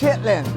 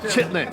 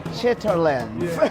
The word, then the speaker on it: chitterlings: Now, if you looked at it written on paper, it might look like chitterlings, but I believe that's not how it's pronounced. Chitlin. Yes. Chitlins.